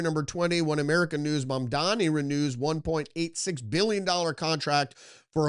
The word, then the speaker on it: Mamdani: New York Post, Socialist Mamdani, I keep pronouncing his name, it's Mamdani, launches new war on NYC business leaders, kicking them off mayor's fund that backs city programs.